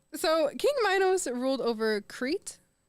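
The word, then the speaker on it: Crete: to keep going so King Minos ruled over creit right is that how you pronounce it yeah I'm so cool guys that's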